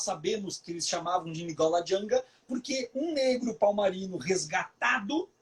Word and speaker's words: Ngola Janga: Os negros chamavam Palmares de Nigola Janga, que traduzindo do banto significa pequena Angola.